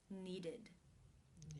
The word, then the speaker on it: needed: The final sound of the verb in the infinitive form is the D sound.